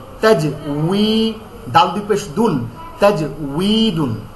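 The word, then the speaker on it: تجويد: হ্যাঁ, তাজিম জবর তাজ, ওয়াও ইয়াজের উই, তাজ উই, দাল দুই পেশ দুন, তাজউইদুন, এটা হচ্ছে মূল উচ্চারণ। তাজবিদ না, ওয়াও কখনো বা হয় না।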